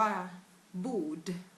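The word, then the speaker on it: bord: ค่ะ ภาษา สวีดิช ค่ะ ภาษา สวีดิช ออก เสียง ว่า บูด บู บูด นะ คะ ต นมัน เหมือน คำ ว่า บูด อ่ะ เหมือน แบบ ของ มัน เน่า มัน บูด อ่ะ นึก ออก ป่ะ แล้ว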